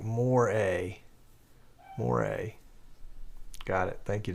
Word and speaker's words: moire: As a tip, moire is pronounced like more-a.